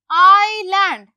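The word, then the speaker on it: island: First word में पढ़ देती हूँ, आईलैंड। अब देखो कौन सा वर्ड साइलेंट मैंने किया है, आई लैंड, मैंने क्या बोला, आईलैंड, एस क्या है, साइलेंट, तो इसको मैंने अंडरलाइन कर दिया।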